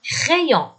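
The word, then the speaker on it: les crayons: الكلمة بيلعب دور الإي، فالآ مع الإي تعطي صوت إي مع بعض، فراح يصير كريون، لي كريون ومعناها أقلام الرصاص. الاو ان حكينا عنها اكثر من مره انه صوتها او، والاس لا تنطق ابدا.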